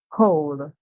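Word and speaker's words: whole: makes the sound C the W silence and the H is the one that makes the song so w h can make the song and then hear the O make the song O and the El S at the end find when we put it together we hear oh hole hole and this hole would refer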